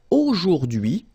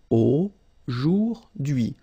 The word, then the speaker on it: aujourd'hui: H is not pronounced, so you only get this DUI thing. Aujourd'hui, aujourd'hui, and it means today, okay?